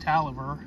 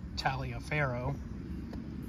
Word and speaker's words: Taliaferro: This guy, Taliaferro, because that name is pronounced Taliaferro, not Taliaferro, he was from down King Queen area.